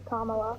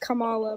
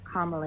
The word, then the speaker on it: Kamala: I thought it was Kamala, but I got corrected, so I learned.